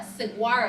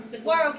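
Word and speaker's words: saguaro: have ours both matching lift a siguo I think I pronounced that wrong sigaro Cactus where it has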